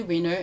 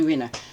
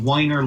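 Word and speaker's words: Weiner: Let me move it back slightly because he pronounced his name the Anthony winner. He only mentioned the last name, but uh he pronounced it kind of wrong. What was known to have been on on the whiner laptop. You see, he said whiner which had all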